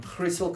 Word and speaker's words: Griessel: By we, I mean Griessel Consulting, that is the Afrikaans way of pronouncing it if you're watching this from overseas, and Convexum Solutions, that's technologies.